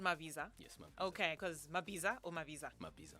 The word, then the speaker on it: Mabiza: Okay, because Mabiza or Mabiza? Mabiza. Because I pronounce it in Ndebele way. I'm Ndebele.